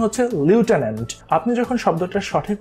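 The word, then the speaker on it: lieutenant: Type করছেন, বই type করার সময় আমরা যেমন উচ্চারণ করি কি লেফটেন্যান্ট, কিন্তু শব্দটার সঠিক উচ্চারণ হচ্ছে লিউটেন্যান্ট।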